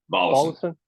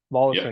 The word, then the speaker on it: Volosin: Volosin. Volosin?